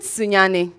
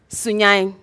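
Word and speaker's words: Sunyani: So what I'm leaving with you all is, the right pronunciation of Sunyane isn't Sunyane, but Sunyane, Medamasi.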